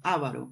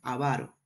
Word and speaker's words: avaro: Porque yo leí una vez que antes lo pronunciaban Ávaro, pero ahora lo pronuncian Avaro.